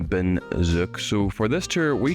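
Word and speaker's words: Bến Dược: So I'm told that Bin Duoc is actually pronounced Ben Zook.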